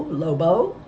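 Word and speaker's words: LoBeau: my name name is lobo with the accent on the end I'll be taking care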